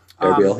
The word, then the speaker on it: Erbil: verge of storming the city of, is it Erbil? I don't know how you pronounce it. Erbil, yeah.